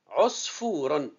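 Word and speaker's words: عصفور: Osfouron. Alors, ce nom est composé de 3 syllabes. Os, fou, ron. Je répète, os, c'est une syllabe avec soukoun, la ronde, la forme ronde au-dessus de la deuxième lettre.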